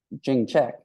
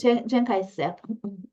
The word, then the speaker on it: Chiang Kai-shek: It was all these rural farmers who had these weapons who started the uprising against Jing Chek, or I'm mispronouncing his. Chiang Kai-shek.